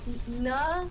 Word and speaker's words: Naganadel: I pronounce it as Naganadel.